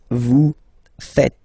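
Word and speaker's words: vous êtes: French people tend to make the mistake and tend to to say V okay uh but then no no no no it's vu fet Vu fet okay so remember final s here is not pronounced and then this is not pronounced either so fet fet V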